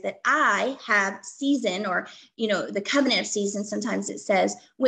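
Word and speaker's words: seizin: This comes from chapter 9, and the answer is covenant of season. Most of the time on the state exam, they just call it season, and sometimes it's spelled S-E-I-Z-I-N.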